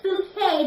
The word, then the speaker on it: Bucket: Bucket," and she says, "No, it's Bouquet," because she doesn't like to be pronounced Bucket, don't you?